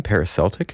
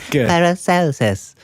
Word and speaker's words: Paracelsus: Did you even look up how to say that? Because I told you 4 times to check that. I did. I first of all, I figured that's how you say it because that makes sense. And then I YouTubed it, how to say Paracelsus, and it said Paracelsus.